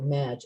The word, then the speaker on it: mage: I want the mage, the Madge, I actually looked up the pronunciation on Google, Madge. Okay. It's spelled Still need to read M-A-G-E.